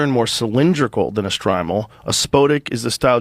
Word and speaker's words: shtreimel: Uh, the fur hat is known by the Yiddish name, how do you say that? Striml. Shrimal. Shrimal. Yeah.